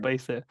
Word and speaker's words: pice: It's a Hindi word, which spelt in English spells pice, but it's pronounced paise, or P-A-I-S-A, that kind of spelling. That's what it should be, but that's how it's spelt in English for some reason.